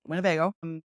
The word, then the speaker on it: Winnebago: But just note that especially on the east side of Lake Winnebago here, it is pronounced Winnebago, you'll see a lot of wind farms popping up.